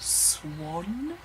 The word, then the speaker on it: Xuan: xu8 n which is my middle name and it's pronounced sworn the amount of times people get that wrong are you like the white bird pretty easy anyway I